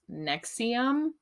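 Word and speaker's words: NXIVM: about um it's pronounced Nexium but just like the heartburn medication um so this cult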